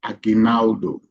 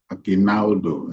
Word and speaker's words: Aguinaldo: The word Ainaldo. Ainaldo. I know most people struggle to pronounce it. Ainaldo is a Filipino word from the Philippines.